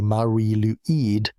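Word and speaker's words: Mari Lwyd: At its front moved a figure both eerie and beautiful, the Mary Lloyd, the grey mare. The name pronounced roughly Mari Luid has been part of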